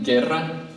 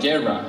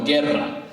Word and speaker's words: Guerra: Well, it's so funny, when he said his name, Guerra, he pronounced it with double R. In Costa Rica, we tend not to roll our R's. It doesn't mean we can't. So I said Guerra, and he said, no, Guerra.